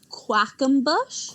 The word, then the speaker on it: Quackenbush: His last name is Quackenbush? Quackenbush, yeah. Quackenbush. Quackenbush. Quackenbush. And it's literally spelled like quack. Like quack in bush.